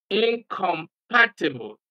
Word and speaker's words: incompatible: of the word okay in other words you just uh skip the the prefix and stress the next syllable after the prefix for example the prefix here is inor Incorruptible in incompatible the prefix and stress